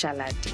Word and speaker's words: Shalate: So it's Shalate.